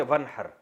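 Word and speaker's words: وانحر: में नहर तो वन असल में था न हर पढ़ा जाता है मिलाकर वन हर तो अलिफ साइलेंट हो जाता है वन हर फसली आप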